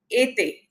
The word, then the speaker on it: été: It's like été. Été is summer in French. So, E with this slanting line, it becomes A. Été. Then this is accent aigu. Then we have accent grave. Accent grave, this is again E with a slant in the other direction. This becomes like A. It's not elongated as A, it's A. From mère. Mère is mother in French. So this becomes mère. You see the difference? Été, mère.